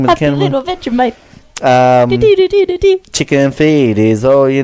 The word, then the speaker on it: Vegemite: You guys say Vegemite. We just say Vegemite. Vegemite. Because we say it the way that we would read it.